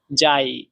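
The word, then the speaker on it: 在: 4 number tone উচ্চারণের নিয়ম হচ্ছে উপর থেকে নিচে, ডাইরেক্ট নিচে নামবে, যাই, যাই।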